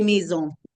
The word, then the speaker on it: maisons: Bien, les maisons. A mí, perfecto. Yo voy a saber, aquí como la S no se pronuncia, yo voy a saber que es plural por el artículo.